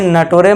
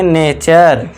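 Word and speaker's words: nature: बाद आर करना है इसे नटोरे मत पढ़ना नटोरे गलत हो जाएगा नटोरे मत पढ़ना इसे पढ़ेंगे नेचर ठीक है दोस्तों, अब बारी आती है देखिए नेक्स्ट एग्जांपल की।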